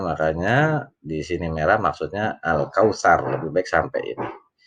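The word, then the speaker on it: الكوثر: di sini merah maksudnya al-kautsar bebek sampai ini meskipun boleh dibacanya al-kauthar Oh tetapi sinyal waktu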